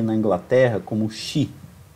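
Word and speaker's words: sídhe: também conhecidas na Irlanda e na Inglaterra como shi é o se escreve Cid né sdh E então são as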